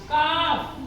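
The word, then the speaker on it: calf: बोलेंगे कुड इसमें भी हमारा एल क्या है साइलेंट है काफ सी ए एल एफ काफ का ठीक है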